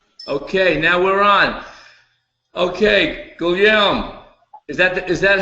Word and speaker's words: Guillaume: Okay, Guillaume, is that how I pronounce your name? Well, it's Guillaume. Say it again. Guillaume. Guillaume. Guillaume, yeah. Well, you have to be French to pronounce it.